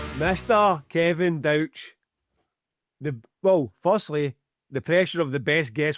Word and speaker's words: Douch: just so you know my surname is pronounced douch like couch not douche duck all the other things